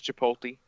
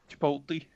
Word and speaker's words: chipotle: Subway, gets a sub, and he gets chipotle sauce on it. Your dad Yeah. does. He says chipotle. Chipotle. I was like, okay. That's not. It's chipotle. Like he's mixing the L and the T.